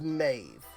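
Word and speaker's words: Medb: And I am looking at another name that that's spelled M-E-D-B, and then right next to it it says Maeve.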